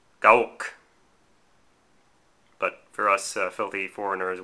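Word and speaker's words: Gerwalk: you pronounce gwalk well if you wish to be authentic to the way they pronounce it in Japan it is um GOwalk but for us filthy foreigners we can just just say gwalk because it it it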